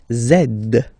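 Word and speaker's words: zède: X and the last one zed zed. Okay, so remember to pronounce this D at the end.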